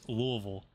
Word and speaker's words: Louisville: So some people say Louisville like L-U-L, but I say it like almost like L-O-U like Louisville.